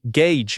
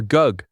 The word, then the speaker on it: gauge: This word sounds like gauge, not gi or gug.